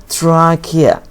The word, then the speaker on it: trachea: Trachea. This pronounced K, guys. Don't pronounce it trachea wrong.